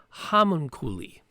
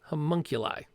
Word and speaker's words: homunculi: get it right um hamun kuli how monkey like thank you homunculi that sounds like now yep that's right oh uh okay so